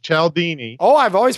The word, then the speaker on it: Cialdini: One's Influence, The Psychology of Persuasion by Robert Cialdini, and then... it's pronounced Cialdini.